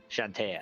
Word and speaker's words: Shantea: Shantea. Shantea. 3 syllables.